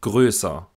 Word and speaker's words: größer: des folgenden Konsonanten aufgehoben hier das Wort größer die Laute werden schon mit gerundeten Lippen gesprochen die lippenrundung wird erst während der Aussprache des folgekonsonantens aufgehoben das Wort Möwe auch